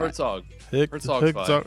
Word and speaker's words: Herzog: See, I'm getting my words wrong because I'm trying to get ready to pronounce this correctly. We are talking about Hergog 2. Is that right? Herzog.